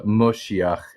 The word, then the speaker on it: Moshiach: And they also pronounce the kamats as a as more of an o sound than a a sound in a lot of instances, which is why you'll see uh like like Orthodox youth sometimes refer to the Messiah as the Moshiach. M O S H I.